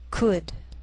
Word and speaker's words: could: sheal it wheel Veil sometimes L can be silent so you have to be careful the first five words listed below are very common so let's take the time to make sure that you're pronouncing them correctly listen and repeat after me talk walk could should W the yellow part of an